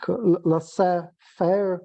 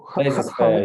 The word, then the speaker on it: laissez-faire: I cannot pronounce this, like laissez-faire or Laissez-faire, yeah.